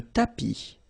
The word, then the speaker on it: tapis: Le sol, la table, le tapis. Remember final S not pronounced.